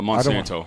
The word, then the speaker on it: Monsanto: Uh, Monsanto, like the evil pharmaceutical company.